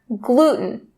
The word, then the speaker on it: gluten: concentrating on the word gluten. Now, you see that T sound in the middle? It's mostly common in North America to drop or stop that T sound and say gluten, gluten.